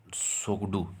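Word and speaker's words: Tshogdu: ठीक है, earlier it वाज सोगडू। I think ये टी जो है ना ये साइलेंट है, यहाँ पर भी, यहाँ पे भी टी साइलेंट होना चाहिए, बट जैसे ह्यूएन सांग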